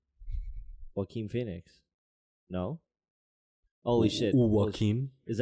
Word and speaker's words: Joaquin: think he's a great light how do you pronounce his first name again Joaquin Joaquin Phoenix no holy what team